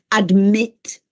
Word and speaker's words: admit: Quindi admit, commit, sentite che c'è questo accento che cade, questo stress on the second syllable, in quel caso si raddoppia.